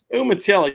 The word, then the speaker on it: Umatilla: Umatilla, yeah, it's middle of nowhere, Florida.